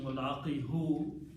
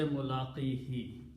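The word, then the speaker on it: مُلَاقِيهِ: Instead of pronouncing mulaqi hu, it's easy in tajweed and more rhythmic to say mulaqihi.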